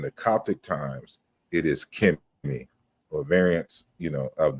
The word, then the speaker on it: Kmt: concerning the um the the pronunciation it's always kimy it's always K I've never seen it pronounced Co or spell cool in